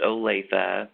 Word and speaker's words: Olathe: are you guys alright I've Veronica it is pronounced Olathe but oh thank you hey that's okay but